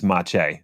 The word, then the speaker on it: Maciej: Yeah, but I actually looked up how to pronounce that, and it's Maciej.